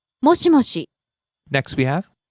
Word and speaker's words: もしもし: もしもし、もしもし、 Starts high, drops on the second syllable, she stays low. もしもし、 Next we have 大丈夫、 all right, okay.